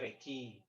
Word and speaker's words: recce: Let's say, ini Rece, bacanya Reki, ya. Kalau di produksi bacanya Reki.